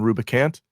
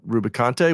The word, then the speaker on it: Rubicante: I was calling him Rubicant and not Rubicante, which makes sense because he is Picante.